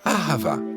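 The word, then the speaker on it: אהבה: On le prononce ahava.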